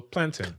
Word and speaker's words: plantain: You pronounce it like mountain. So plantain.